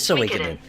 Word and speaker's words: Suikoden: It is Suikoden.